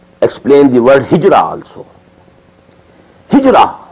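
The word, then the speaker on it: هجرة: Hijra, which we in Urdu pronounce hijrat. This is the negative side of jihad.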